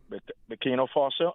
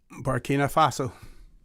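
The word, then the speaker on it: Burkina Faso: Some of the countries um um we have Tyrie um Abraham Tyrie um from from um Bino Fo. How do you say that? O Bina Faso.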